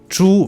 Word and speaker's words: 猪: So 猪 means pig, and its pinyin is 支吾猪, and 租 means rent. Its pinyin is 租. So if you mispronounce 猪 as 租, then people may think you are talking about renting something rather than a pig.